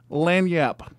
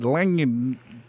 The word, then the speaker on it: lagniappe: Yeah, because I would have said lanyap. Yeah, I would have said, yeah, lagniappy. Lagniappy. I guess the G is silent.